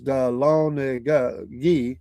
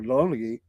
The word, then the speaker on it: Dahlonega: The proper pronunciation of Dahlonega is Dahlonegi or Dahlonegi. I didn't know that either. Or Dahlonegate.